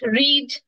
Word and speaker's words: read: এগুলো সেইম থাকে চেঞ্জ হয় না পুট পুট রিড এটা লেখার সময় আমরা আর ই এ ডি